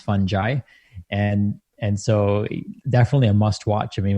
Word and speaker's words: fungi: it's called fantastic fungi and it's actually not pronounced fungi it's actually pronounced fungi and and so definitely a must watch i